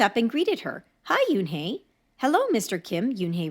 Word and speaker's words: Unhei: she nodded slowly yes it's pronounced Yoon hey and it means Grace